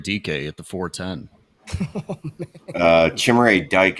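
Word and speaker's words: Chimere Dike: Uh, Chimray Dyke is more fun to say. So, I'm going with Chimay, but that's how my kids pronounced it when they saw come off the board. I had to correct them.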